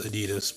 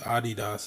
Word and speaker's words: Adidas: yes it is pronounced a DDoS it's not pronounced adidas but you know feel free to obviously pronounce it the way you want to but a DDoS is a German brand and it was started by mrs.